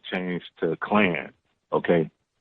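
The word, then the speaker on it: Klann: And I'm like, man, like your name her last name changed to Clan. Okay. So it's not, it's spelled Clan, but it's with another N. So it's K-L-A-N-N.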